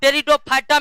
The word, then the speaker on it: टेरिडोफाइटा: और टेरिडोफाइटा में P silent रहता है दोस्तों। पी क्या रहता है?